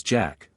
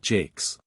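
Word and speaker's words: Jacques: the union George three the English way of pronouncing jacqu is not and probably never was Jack but Jake's the other and more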